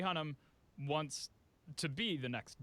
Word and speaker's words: Hunnam: write last night okay i didn't know if it was hun am like like you had to stress the am part but hun him charlie hunnam wants to be the